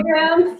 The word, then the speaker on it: Enneagram: Did I pronounce that right this time? Enneagram? Enneagram?